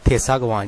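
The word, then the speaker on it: 대사관: और एक होता है जी लफज़ थेसागवान जिसमें वोवेल ए आता है और शियत के बाद आता है।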